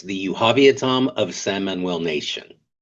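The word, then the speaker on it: Yuhaaviatam: So, it's the Yuavia Tom of Sam Manuel Nation.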